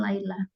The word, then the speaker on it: Laila: Dan ini bukan bacanya Lila, tapi bacanya Laila.